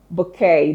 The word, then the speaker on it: bouquet: Bouquet. There's no T telling you that the T is silent. The transcription shows you that the T is silent.